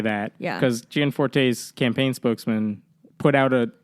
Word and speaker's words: Gianforte: Tonight is Greg Greg is the Gianforte, is that how you say it? Yeah, Greg Gianforte.